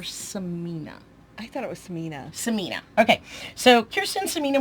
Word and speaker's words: Sinema: Kirsten, how do you pronounce her name? Sinema or Samina? I thought it was Samina.